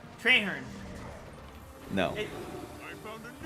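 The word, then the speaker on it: Trahearne: cutscene and I don't remember how his name's pronounced. Yeah, that's right. Treherne. No. It, I found a new way to win. Treherne. Outstanding. Yes. Trarn.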